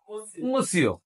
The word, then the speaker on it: monsieur: প্রথম সময়ের জন্য আপনি ভালো করেছেন bon ça va এই দেখছেন ওখানে বলেন না ও তাহলে কি মসিও আর একে উচ্চারণ করলেন না মসিও আর মেয়েদেরকে বলে মাদাম